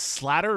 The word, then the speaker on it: Slater: And it's it's Slatter or Slater. Slater.